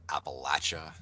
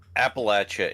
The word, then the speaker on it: Appalachia: It's like what? Appalachia versus cha. So here's you got to go cha.